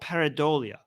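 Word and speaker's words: pareidolia: what you're referring to I think it's called paradia is that how you if that's how you pronounce it let me just double check yeah it's called paradia so paradia is a psychological phenomena where the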